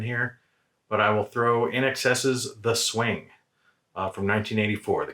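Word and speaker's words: INXS: somebody encounters them so instead of sayed and inks's we have shade and in excess so look for eric's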